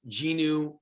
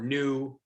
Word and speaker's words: GNU: and by the way you can pronounce this genu or new i'm gonna say gnu just to help with